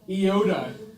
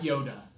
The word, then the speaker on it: Iota: Iota. It's the Greek equivalent of I, not Yoda.